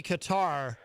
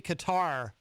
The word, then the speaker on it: Qatar: I think it would be Qatar, which some people in the media pronounce Qatar, which I find strange. I believe it would be Qatar because we do have